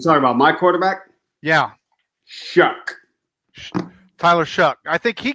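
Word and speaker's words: Shough: Tyler Show. I think he got belted, and they didn't call anything. You're talking about my quarterback? Yeah. Shuck.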